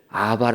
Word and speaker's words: abba: 영어로 바람에 abba 입니다 그런데 이제 미국 사람들은 abba 를 아바 라고 발음해 가지고 아 바로 되지만 우리는 비옷 2개 있는 것을 빠 라고 발음하지 않습니까 뿌리는 아빠 라고 하는데 이게 헬라 웜 건